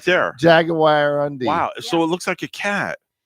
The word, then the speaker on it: jaguarundi: Yeah, like a jaguar in your undie. Oh, there it is right there. Jaguar undie.